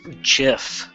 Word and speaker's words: gif: proper gif animation it's pronounced jiff no it's not scientists slowly reintroduced